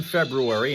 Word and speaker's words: February: doing news and traffic, pronouncing the R in February and leaving the T